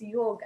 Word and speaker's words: yog: But in Sanskrit terms, it's the actual word for it is yog.